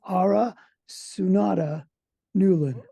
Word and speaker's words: Aura Sunada Newlin: oh I forgot to ask you how to pronounce the Middle with so it's ARA sunata Newlin I know ARA because she is the executive